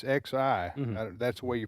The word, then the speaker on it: Xi: It's Xi. That's the way you pronounce it.